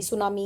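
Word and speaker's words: tsunami: आग सुनामी ठीक है सुनामी सुनामी ही होता है टी इसमें साइलेंट होता है इसलिए हम इस टी को नहीं बोलते लेकिन लिखते हैं तो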